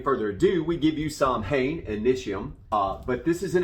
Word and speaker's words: Samhain: For those of you who are unfamiliar with Samhain, or Samhain as it is properly pronounced, but that's not how Danzig pronounced it.